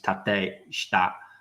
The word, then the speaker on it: tateshita: When in Japanese, the E's are pronounced as an A and I's are E's. So in that case, tateshita is the right way to say that.